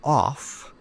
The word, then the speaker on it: off: We say of with a v sound of and we say off with a f sound of.